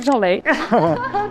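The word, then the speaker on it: 赵雷: 他的成都的歌曲，那是赵雷，发音是一样的。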